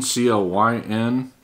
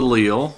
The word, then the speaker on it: Clyn: This is I'm assuming it's pronounced Clyn, C-L-Y-N.